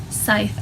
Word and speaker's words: Scythe: Jackson series and the scud series Oh scythe I found out it's not pronounced this guy Brandon the book at